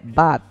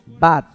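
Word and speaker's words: בת: Usted quiere decir hija, llamar a su hija, solo dígale Bat. Bat, ven para el niño y bat para la niña.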